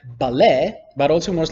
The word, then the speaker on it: ballet: a body of water the letter T also in a lot of French words like ballet but also much like